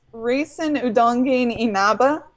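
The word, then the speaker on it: Reisen Udongein Inaba: full name it you you got her name right although you did pronounce it wrong I figured I've never been able to pronounce her name right it's racon udong Inaba okay um and she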